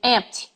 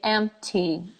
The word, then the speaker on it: empty: We Brazilians have a tendency of saying empty. She's crazy. It's empty. When in fact we have to say empty. Crazy.